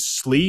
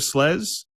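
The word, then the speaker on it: SLES: yes being one of those nice now if I heard correctly you pronounce it slee instead of slez uh for the the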